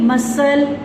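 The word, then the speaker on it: muscle: सी में देखिए, सी इज़ not pronounced in the ending SCLE, मसल, इसमें सी जो है वो साइलेंट है।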